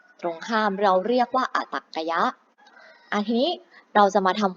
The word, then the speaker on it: อตรรกยะ: อย่าง ข้าง หน้า ค่ะ อ่าน ว่า อ่ะ ตรรกะ ยักษ์ ค่ะ อัน นี้ คือ จำนวน ที่ ตรง ข้าม ตรง ข้าม เรา เรียก ว่า อตรรกยะ อาทิ เรา จะ มา